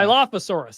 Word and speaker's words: Dilophosaurus: I don't know how you pronounce it. Yeah. Dilophosaurus.